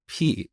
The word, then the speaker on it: pi: back in Iran we we pronounce it as p and I think Greek people also say p but anyway I just